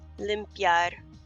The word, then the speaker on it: limpiar: At the end will sound more like a Y when put next to an A, so it sounds like ya, limpiar.